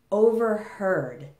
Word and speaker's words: overheard: Hear and overhear in the present have the ear sound. But in the past, notice that the spelling doesn't really change much. We just add a D, but the vowel sound actually changes. So instead of ear, now we have er. So in the past, we pronounce them heard and overheard.